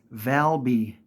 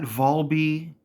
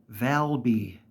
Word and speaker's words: Valby: end of it it's Valby not vby or lately I've been hearing Balby like with bees it's Valby it is said constantly throughout the game Valby uh nothing with